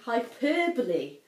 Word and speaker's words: hyperbole: I'd heard it pronounced, I'd seen it written down, just pronounced it differently in my head. So this is actually hyperbole and a half, which is an awesome webcomic